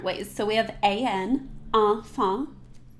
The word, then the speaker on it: enfant: So we have A-N, enfant. So we have A-N and E-N. Say that with me.